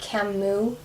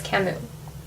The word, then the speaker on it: Camus: i think it's pronounced camus but it has an s at the end but i'm pretty sure it's camus i might be wrong